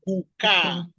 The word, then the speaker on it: kukaa: There's kukaa.